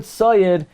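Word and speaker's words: צַיִד: The word tzayid is pronounced tzadi yud dalid, but it's spelled tzadi yud dalid hey.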